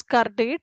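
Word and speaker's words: CURDATE: So uh we can pronounce it as car date.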